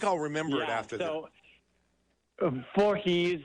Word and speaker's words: Vorhies: remember it after that for he's a jolly good fellow no the same thing for he's for he's okay good so I think